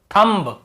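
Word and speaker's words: thumb: बी का उच्चारण करते लेकिन एम के बाद यदि बी है तो हमें बी को नहीं पढ़ना है केवल कॉम यहां पर भी बी को नहीं पढ़ना है तो बम यहां पर भी बी को नहीं पढ़ना है तो थंब यहां पर भी बी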